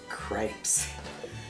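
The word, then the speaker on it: crêpes: Tonight we're going to make crepes. And yes, I'm from Georgia, so this rhymes with grapes. If you're from other places, it might rhyme with Depp, like Johnny Depp.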